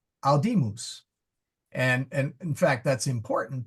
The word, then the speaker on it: audimus: Whereas this one is long, so we say audimus. The accent is on the mid syllable.